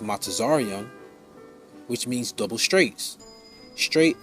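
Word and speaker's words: מצרים: by ships egypt and the hebrew is pronounced mata zaryan which means double straights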